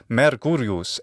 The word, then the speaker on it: Mercurius: you and that is the messenger himself mercury mercurius in Latin and In classical attic his name